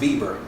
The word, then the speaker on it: Weber: Spell Weber is pronounced Weber.